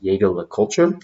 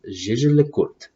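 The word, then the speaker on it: Jaeger-LeCoultre: For those of you out there, some people pronounce it Jaeger LeCoultre. I don't. I pronounce it Jaeger LeCoultre.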